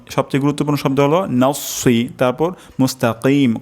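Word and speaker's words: مستقيم: গুরুত্বপূর্ণ শব্দ হলো তারপর মুস্তাকিম কফ উচ্চারণ করা এখানে ক্ষেত্রে আমাদের কাফ হয়ে যেতে পারে তো আমি আরেকবার তেলাওয়াত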